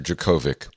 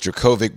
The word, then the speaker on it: Djokovic: not settled on Jerkovic or Djokovic. I thought it was Jerkovic.